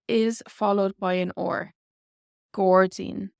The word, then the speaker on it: gairdín: Gordzine. Gordzine. So this OR here does affect our vowels. Often in Irish, the consonant that comes before or after these vowels will change them as well.